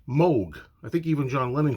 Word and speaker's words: Moog: plays now I always want to say the Moog but of course people are always telling me it's not pronounced moo and some people still do it's pronounced Moog I think even John lenon called it Moog